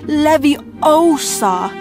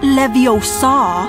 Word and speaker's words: Leviosa: No, V, you're saying it wrong. It's Leviosa, not Leviosa.